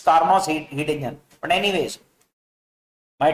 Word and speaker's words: Carnot: For Carnot's heat engine, Sati Carnot's heat engine, I am using the word Carnot's heat engine, I think T is silent. It's Carnot's heat engine.